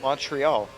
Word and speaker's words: Montreal: It's Montreal. It's not ta. It's tra. Montreal.